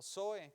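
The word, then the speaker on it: ζωή: Esta palabra vida que Jesucristo menciona es la palabra griega zoe o zoe con Z, O y acento en la E, que quiere decir vida permanente.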